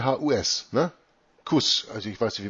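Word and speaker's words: Kusch: äh im achten Versitat Kuss. C Hus, ne? Kuss. Also, ich weiß nicht, wie man das sonst im Deutschen ausspricht. Ich spreche das Kuss aus. So spricht man das im Englischen aus.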